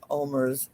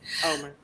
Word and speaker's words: Omer: tweet earlier about mispronouncing Omer's name, because some people really hate when their name is mispronounced. So I'm going to pronounce it correctly. Omer.